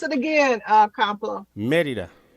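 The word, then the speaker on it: Mérida: Pronounce it again, Complo. Merida. Merida.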